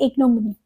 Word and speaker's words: ignominy: वैसे इसका correct pronunciation है इग्नोमनी। इसका अर्थ क्या होता है?